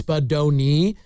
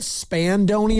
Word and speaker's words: Spadoni: I It's not a difficult name to pronounce. Spadoni. And yet it's most of the time people add letters to it that just aren't there. I get Spandoni a lot.